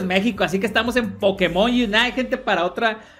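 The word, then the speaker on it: Pokémon: pokemon en realidad gente es pokemon y así es como se dice pokemon porque lleva acento en la e pero nosotros en méxico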